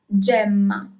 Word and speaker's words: gemma: And yes, it's the first option because the second option, first of all, it doesn't exist in Italian, but it would be read as GMA. Okay, gh is G.